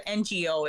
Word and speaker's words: Ngo: name is andy no i think it's pronounced as a ngo it's like he's like